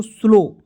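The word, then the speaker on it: slow: समझा देते हैं दोस्तों, यहाँ पे ओ डब्ल्यू आएगा तो उसको उच्चारण ओ के रूप में हो जाएगा, तो इससे होता है आधा स और एल ओ से लो, तो क्या हो जाएगा दोस्तों, स्लो।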